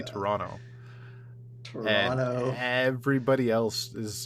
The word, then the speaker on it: Toronto: We don't pronounce the second T. We don't say Toronto. We say Toronto.